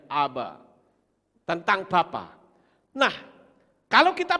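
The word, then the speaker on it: אב: Alef, bet, Alef, ini bacanya Aba.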